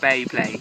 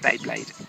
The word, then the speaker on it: Beyblade: blade bade games B am I saying it wrong beblade it's B blade Beyblade Beyblade yes bade um is that